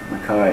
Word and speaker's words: MacKaye: MacKaye. Everyone wanted to know how to pronounce it, so now we know.